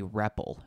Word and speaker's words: REPL: do this is using what's known as a repple this is written out our EPL but it's pronounced repple and this stands for read evaluate